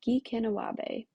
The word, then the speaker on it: Gikinawaabi: The curriculum is pronounced Gikinawaabi.